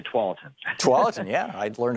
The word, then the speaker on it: Tualatin: You got to know how to say Tualatin.